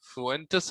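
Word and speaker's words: Fuentes: फुएंटेस इनका प्रोनाउंसिएशन है, Spanish author थे, एक इंग्लिश ट्रांसलेशन उनकी कहानी का हम पढ़ रहे हैं।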